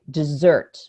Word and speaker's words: dessert: So I say dessert.